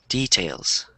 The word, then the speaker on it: details: used as a verb so the stress is on the second syllable so detailed or details